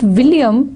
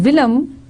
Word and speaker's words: William: William, it was not William, it was Willem.